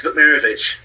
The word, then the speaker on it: Vukmirovic: It's Vukmirovic. I know I can beat that. All right, I think it's Vukmirovic. Close enough, it's Vukmirovic. Oh, it wasn't too bad.